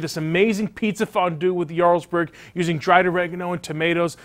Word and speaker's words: Jarlsberg: called Jarlsberg it's spelled with aj but it's pronounced Jarlsberg and its a Norwegian cheese that has a